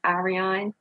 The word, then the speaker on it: Aran: apologize good morning everyone so you did pronounce it wrong I'm sorry it's okay though um it's Aran so yes at w High